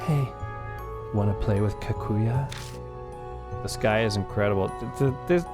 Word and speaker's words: Kaguya: out between my lips your name is kakua no that's wrong thank you I appreciate you telling me how to pronounce that I was being very disrespectful kakuya kakuya it's like she can't